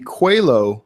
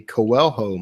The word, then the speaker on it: Coelho: it's the blank medallion okay so it's the cuello medallion I kept calling it the Koel home medallion and then somebody was very kind and